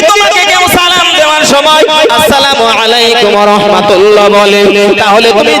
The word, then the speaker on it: আসসালামু আলাইকুম: তারা এসে বলল আসসালামু আলাইকুম, সালাম না, ল শব্দটা লাম শব্দটা আউট করে দিয়ে আসসালামু আলাইকুম।